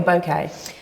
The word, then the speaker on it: bouquet: is the you say bouquet or bouquet it depends who who you're speaking to different people pronounce it differently but I say bouquet okay but I'm from